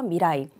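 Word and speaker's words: 未来: 자, 루루가, 자, 미래는 미라이라고 읽죠. 미라이.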